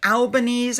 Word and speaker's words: Albanese: All right, next up we have King Charles, who had a meeting with the Prime Minister of Australia, Anthony Albanese, I believe is how you say it.